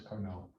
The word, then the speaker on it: Carnot: spelling cardinal correctly yeah he's french that's why the t is not pronounced because it doesn't matter that he says carnot i want to give